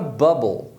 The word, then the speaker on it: bubble: E aí, quando você olha a separação, a primeira sílaba termina em consoante, então a gente vai usar o som curto do U, que é A.